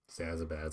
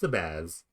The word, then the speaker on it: Zabaz: Zazabaz. I keep adding another syllable there. It's Zabaz. It's just Zabaz.